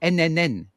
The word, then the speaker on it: n8n: And then someone told me, oh no, no, nobody says that. We say NNN, three N's.